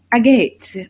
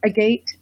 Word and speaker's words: agate: Or if you are from across the pond, you say agate, blue lace agate, which actually it is spelled agate, but we say agate in the United States.